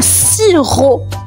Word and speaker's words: sirop: Le sirop. Un sirop. Et le sirop les amis s'écrit s i r o p. La lettre muette à la fin c'est un p sirop.